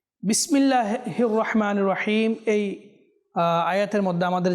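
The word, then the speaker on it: رحيم: শুরু করি বিসমিল্লাহির রাহমানির রাহিম বিসমিল্লাহির রাহমানির রাহিম এই আয়াতের মধ্যে আমাদের যেটা লক্ষ্য রাখতে হবে সেটা হচ্ছে হির হা যেন পরিপূর্ণ হয় হা যেন পরিপূর্ণ হয়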